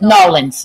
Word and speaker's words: New Orleans: Nolans. It's actually how it's spelled. Nolans. So it's no Nolans. Nawlins.